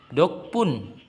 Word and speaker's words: 덕분: Dokpun, itu dibacanya dokpun, yang artinya berkat atau dukungan.